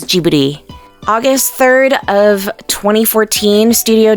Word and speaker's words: Ghibli: the anime industry although the Italian word would be transcribed as gibbity with a hard G sound the Studio's name is written in Japanese as jubidy August 3rd of 2014